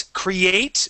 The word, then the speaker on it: create: Create has an E at the end, but we do not pronounce that E.